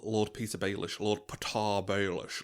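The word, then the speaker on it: Petyr: Lord Peter Beish Lord Patar Bish like pronounced Patar Petar it's like Peter I know it's got a Y in it but Oh that's amazing.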